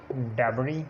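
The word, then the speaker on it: debris: Examples oil, डेबरी, इसको डेब्रिस नहीं पढ़ना, डेबरी, उसी तरह ऑयल, और इसको हमने आइलैंड पढ़ना है और बॉर्जियो, इसमें एस साइलेंट है।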